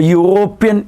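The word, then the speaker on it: European: is right answer A അപ്പൊ യൂറോപ്യൻ എന്നത് ഇ എന്ന സ്വരാക്ഷരത്തിൽ ആരംഭിച്ചെങ്കിലും ഉച്ചാരണം വ്യഞ്ജനം ആകയാൽ ഇതാണ് ഉച്ചാരണം യ വ്യഞ്ജന ഉച്ചാരണം വന്നതുകൊണ്ട് അതിനു മുമ്പ് ആർട്ടിക്കിൾ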